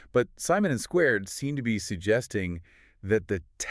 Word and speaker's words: SQRD: But just so we are all on the same page it is pronounced squared.